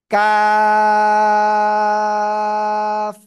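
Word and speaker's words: ق: কা, এরকম উচ্চারণ করব। কেমন? কাফ।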